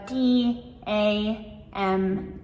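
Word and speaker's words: damn: Another one is dam. So, d a m n, dam.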